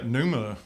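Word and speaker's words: Pnuma: company so they're hard to get to Numa yeah it's spelled p n u ma a and they're they're sponsor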